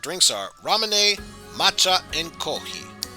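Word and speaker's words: コーヒー: japanese culture and then there's also kohi or kohi which is japanese pronunciation of coffee so you could imagine the f but instead it's just kohi cause if you got rid of the f sun it kinda sounds like coffee with kohi koki is very popular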